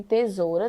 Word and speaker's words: tesoura: escrito com s tá assim como também tesoura tem o som de z só tem um som mas é escrito com s aqui ok e assim